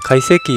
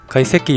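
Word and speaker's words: 懐石: 카이세키를 발음하실 때 카를 조금 띄우시고 한번 발음을 해보시는 걸 추천. 네, 죄송합니다. 저는 일본 전문 요리사는 아니지만 일본 여행을 다녀오면서 일본 요리를 맛보다 문득 카이세키 요리에 대한 궁금증이 있어서 조금 찾아보았는데요.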